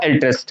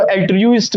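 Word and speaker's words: altruist: अब कुछ बच्चे क्या पढ़ते हैं, इसको एल्ट्रियूस्ट कर देते हैं, एल्ट्रियूस्ट, यानी इसका प्रोनाउंसिएशन है वो रॉन्ग हो जाता है, तो यहां पर क्या होगा, एल्ट्रिस्ट होगा, ये क्या होगा, एल्ट्रिस्ट।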